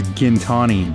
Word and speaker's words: Gintani: What's wrong with Gintani? It's not right. Gintani. Gin? No, it's Gintani. Gin? Yes. Everybody says Gintani though. No, well, everybody's wrong. So we just got back to Gintani from picking up.